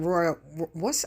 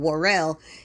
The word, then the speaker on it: Worrell: We got Royal, I always say his name wrong, Worrell.